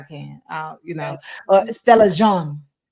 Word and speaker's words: Jean: I think you say Jean or Jean. I think it's Jean. The way that it's French, so it's I think it's pronounced Jean.